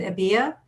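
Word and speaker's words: Ebia: a and how do you how do you pronounce it ABIA yes okay um Miss ABIA um did you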